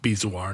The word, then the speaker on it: bezoar: The word bezoar, it comes from the Persian word podzar. Okay. Which means king of the pods? No, I'm king of the pods. No, podzar, which suggests, or padzar, suggests that it actually is pronounced bezoar instead of Maybe you're bezoar. saying it the correct ancient Iranian way.